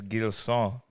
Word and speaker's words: Gilson: But the Haitian pronunciation of my name is Gilson.